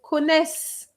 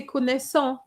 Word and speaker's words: connaissent: And it's the same for connaissent. You can't say connaissant. You have to stop at the S.